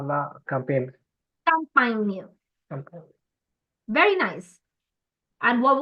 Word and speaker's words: campagne: Whenever you see your words ending in GNE, campagne, champagne, montagne, make sure that your GNEs are pronounced as near.